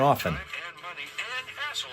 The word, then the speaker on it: often: Pronouncing the R in February and never pronouncing a T in often.